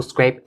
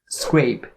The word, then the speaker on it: scrape: on the word scrape, because it starts with a skr sound. And it can be a little tricky to pronounce, so make sure that you have all the sound together. Scrape, scrape, scrape. And then this word ends with the P sound, so scrape, scrape.